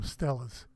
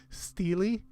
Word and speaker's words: stela: I've always called them Stellas. And I looked up the pronunciation to see if there was a preferred pronunciation. And there are like a half dozen ways of saying it. There are people that say Steely.